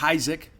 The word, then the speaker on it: Heisig: transfer connor heisig and it is isaac i know it's phonetically you think it would be pronounced another way it's isaac uh he tells me